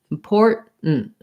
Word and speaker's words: important: where the t is but don't let any t sound out import and then they're going to stop this t as well which means to do that i have a very short little n sound important important so an important meeting an important day it's very important to me you can hear a kind of or is short and is short important um i go into